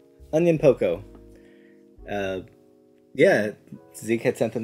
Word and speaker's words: Onyankopon: Onyankopon? Yeah, it's something like that. It's kind of like onion plus like poco. Onyankopon.